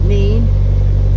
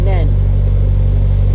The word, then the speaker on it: Nene: going to the nen mean some pronounce it mean some pronounce it nen and then the